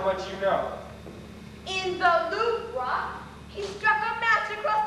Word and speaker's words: Louvre: It's pronounced Louvre. Louvre, that's how much you know. In the Louvre, he struck a match across the Van Gogh.